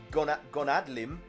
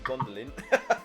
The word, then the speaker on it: Gondolin: It's because the proprietors, Shulmeria Gonadlim, that's not right. It should be Gondolin. I pronounced that wrong.